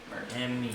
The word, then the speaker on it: Mert: Mert.